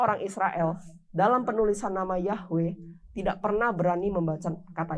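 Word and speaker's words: יהוה: kepada kepada Musa dengan nama bahasa ibraninya adalah yahwe penulisannya yhwh bacanya yahwe yang artinya adalah aku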